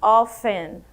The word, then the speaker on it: often: Essa daqui também tem uma curiosidade na pronúncia que eu não falo o T, eu digo often, often, often, ok?